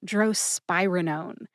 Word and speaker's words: drospirenone: The 3 different pronunciations for drospirenone are drospirenone, drospirenone, and drospirenone. That last one is actually the official one from the USP Dictionary Online, drospirenone.